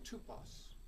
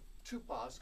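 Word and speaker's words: τύπος: the Bible a type it's the Greek word tupos you might spell it t p o the second letter in that in the Greek is the oon can be represented by the English y or the or the English U as in the word Suki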